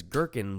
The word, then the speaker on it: gherkin: or gherkin finely chopped I love the word gherkin because gherkin rhymes with working what were you thinking